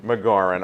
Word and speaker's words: Magauran: your last name for me please look McGauran all right it's it's a very it's a